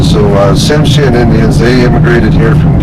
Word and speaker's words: Tsimshian: And then the Tsimshian, they live right over here on Annette Island.